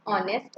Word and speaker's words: honest: In the above example, the words honest and hour start with a consonant H, but when you pronounce, the beginning sound is of a vowel.